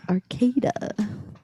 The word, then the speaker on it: Arcata: land but uh the the pronunciation of the city name would be arcada yeah so i don't